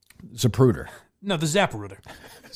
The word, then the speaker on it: Zapruder: It's clearer than the Zaprooer film. Zapruder.